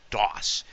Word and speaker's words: Dawes: Phonetically, DOS. It sounds almost like the operating system.